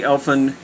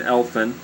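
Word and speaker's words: Elphin: one of the posts upon opening the bag elfin elfin that's e-l-p-h-i-n elfin discovered within it a living infant a wondrous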